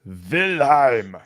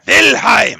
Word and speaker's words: Wilhelm: Although Reinhardt's name, you disappoint me, Cabo. It's pronounced Wilhelm. Wilhelm, I'm sorry.